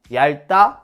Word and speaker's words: 얇다: 갑자기 이렇게 물어보니까 모르겠죠 셋다 리을로 발음합니다 얇다 왜골 핥다 얇다 외고